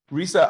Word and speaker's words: Risa: community and uh risa i'm sorry i've been pronouncing your name wrong uh so i i apologize i apologize for that and i love whoever wrote that to me they said it's like smile in spanish so uh so i